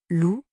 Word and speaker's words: loup: Dans loup, attention, le P final est muet, on ne le prononce pas.